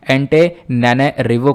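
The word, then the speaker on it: Antananarivo: ठीक है, एक बार और देख लेते हैं, एंटेनारिवो करके यहाँ पर इसका प्रोनाउंसिएशन आप कर सकते हो।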